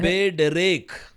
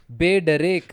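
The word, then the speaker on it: בדרך: के पहले बेथ आया तो कैसे उच्चारण करना है बे डरेक बे डरेक बे डरेक अप ना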